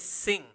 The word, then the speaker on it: sing: No is sing. Sing, okay? Sing. Then like singing when you sing a song.